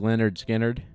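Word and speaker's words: Lynyrd Skynyrd: People say it both ways, but it's like Leonard Skinnerd.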